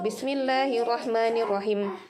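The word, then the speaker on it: بسم الله الرحمن الرحيم: ada yang seperti itu Bismillahirrohmanirrohim ini panjang kan teman-teman boleh pilih2 4/6 kita sepakati 4 saja ya supaya tidak terlalu pendek tidak terlalu panjang empat ketukan disini kemudian diakhir minimnya ini kita sertakan sifat guna asli dari umumnya ghunnah dengungkan dan Bismillahirrohmanirrohim ada begitunya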